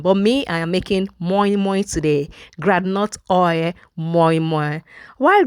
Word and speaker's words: moimoi: Hi, so today I'm going to be making moimoi, mai, moin, according to your pronunciation. But me, I am making moimoi today, granite oil moimoi.